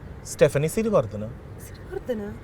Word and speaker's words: Stephanie Siriwardhana: On that note, with some wise words coming our way from the wonderful Stephanie Siri, can you pronounce my name correctly? Stephanie Sartana.